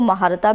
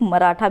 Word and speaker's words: मराठा: केसरी जो था और मराठा जो था, इसको महारथा भी प्रोनाउंस किया जाता है और कई लोग मराठा भी करते हैं।